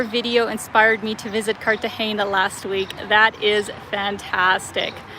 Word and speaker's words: Cartagena: Your video inspired me to visit Cartagena last week. That is fantastic. I'm very glad. And see, guys, I'm saying it correctly now. Cartagena, right? Not Cartagena, as I unfortunately was calling it in the video.